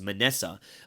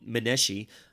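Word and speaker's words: Manasseh: would be the one that would be the pronunciate a pronunciation we would know is manessa but uh the wicked king in jewish we call meneshi not we but that's how the jews call him alleged that isaiah's prophecies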